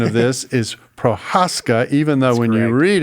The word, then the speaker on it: Prochaska: And I just learned that the proper pronunciation of this is Prohaskca. Even though when you read it, it looks like Jake Prochasca, which is probably how it's said in the US.